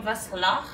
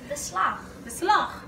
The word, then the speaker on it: beslag: Can you add some beslag for me? Did I say it right? No. How do you say it? Beslag.